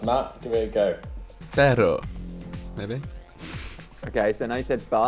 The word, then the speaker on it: pero: The difference between perro and perro. I can't roll my R's. Matt, give it a go. Pero, maybe.